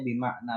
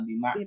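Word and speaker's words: بمعنى: adalah Isim mausul bimakna perhatikan di sini dibacanya bimakna bukan bimakni bimna oh bimakna bimna walaupun ada huruf ba huruf j tetapi di sini makna itu adalah Isim yang mabni ya makna J enggak baca makni alladzi jadi Ma ini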